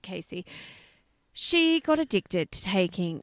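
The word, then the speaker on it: Casie: and and poor old cassie she casey sorry it's it's spelt c-a-s-i-e but i think she pronounces it casey she got addicted to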